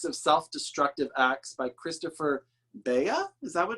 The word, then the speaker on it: Beha: It's The Index of Self-Destructive Acts by Christopher Beha?